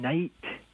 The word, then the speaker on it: night: And we get silent letters in night, the GH there. That sound is a guttural sound from Old English, where they would say nicht.